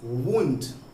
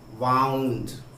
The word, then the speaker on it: wound: Next जो वर्ड्स आपको confuse करते हैं वो हैं वुंड। WOUND वुंड। और एक है वाउंड। याद रखेंगे, जब जख्म की बात हो तो स्पेलिंग भले ही सेम है लेकिन इसकी प्रोनाउंसिएशन वुंड होगा।